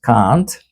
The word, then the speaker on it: Comte: If anyone is not confused, please read Auguste Comte, Augste Comte, pronounced Kant, who said the Catholic Church should not be called a church at all, rather, it should be called the Catholic system.